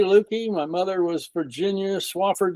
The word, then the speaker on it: Lueke: Don Lueke, is that the right pronunciation of your name?